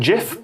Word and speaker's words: gif: settled i thought that gif with a hard g had one but apparently not it is more popular than jif but it's not a